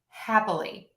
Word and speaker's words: happily: are just some exceptions so with the schwa we use that in happily happily happily you can hear my half still gets the stress my Lee is the middle length and then my uh in the middle is super short happily when I add on